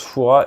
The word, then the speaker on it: Fouras: alors la Rochelle regarder Fouras ça se prononce Fouras et si vous avez